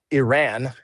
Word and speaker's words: Iran: Well, why why the hell did we give, you know, $150 billion dollars to Iran and or uh Iran is the correct way to say it.